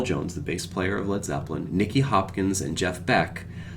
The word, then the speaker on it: Led Zeppelin: Jimmy Page said, "Those damn Americans will think it's Lead, L-E-E-D, Zeppelin." So they changed the name to L-E-D, Led Zeppelin, to clear up any mispronunciation from those damn Americans.